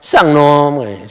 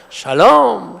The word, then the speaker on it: 샬롬: 예, 이 발음이 정확해야 돼요. 자칫하면 쌍놈, 쌍놈이 아니에요. 샬롬 샬롬 샬롬.